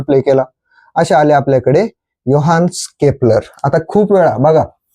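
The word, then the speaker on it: Johannes: केला असे आले आपल्याकडे योहान्स केपलर आता खूप वेळा बघा यांच्या नावाच स्पेलिंग आहे यांच्या नावाच स्पेलिंग आहे जोहान्स पण जोहानस नाही वाचायचं त्याला ते काय आहे प्रोनन्सशन आहे योहान केपलर मग योहानस केपलरने येऊन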